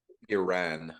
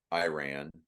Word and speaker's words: Iran: It's Iran, not Iran or Iran. It's Iran. Ron. It's Ron. It's Ron, right?